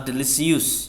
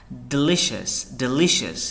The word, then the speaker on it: delicious: Next, delicious, not delicious ya, delicious yang ditekan li-nya, delicious, artinya mantap bana, right, atau enak sekali.